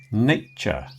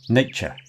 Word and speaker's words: nature: Nature. You notice how the A at the beginning is pronounced A. Nay, not nah. Nay. And then the second syllable is just a ch. Nature.